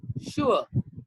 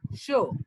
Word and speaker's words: sure: Then this one is, again, it has got two pronunciation. Sure. Sure. Or show.